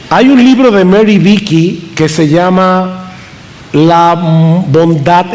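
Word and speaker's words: Beeke: Así que yo también quiero recomendar ese libro de Mary Vicky acerca de ese tema. Vicky se escribe B de burro, E-E-K-E.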